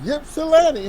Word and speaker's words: Ypsilanti: You from Ypsilanti, huh? You from Ypsilanti.